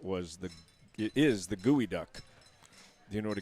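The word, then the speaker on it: geoduck: It looks like geod duck, but it's gooey duck.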